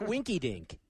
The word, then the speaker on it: Winky Dink: no, Winky Winky Dink rhymes with Shrinky Dinks.